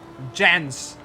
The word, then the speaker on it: Jens: Jens. Yes, how this is how you are supposed to pronounce his name, Jens.